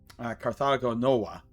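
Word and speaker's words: Carthago Nova: prominent Carthaginian holding uh Carthagon Noah uh is how it would be pronounced in Latin because V's were ws but Carthage um and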